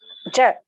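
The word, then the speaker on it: ज: please note, ja is very plain. Janaki, Jananam, the Third ja. Jakara. Third, yes, the third letter, ja. Okay, you don't Ja. have to stress too much. Okay, it is just Okay. simple. Okay. Ja. There is no stress or more energy. It is very simple, straightforward.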